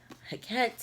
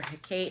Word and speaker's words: Hecate: She's got Hecate in here, or Hecate, however you want to say her name, because everybody says it different.